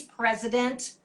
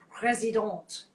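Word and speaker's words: Président: often times they'll have pres it says it's president but it's pronounced president and that's another really nice one to use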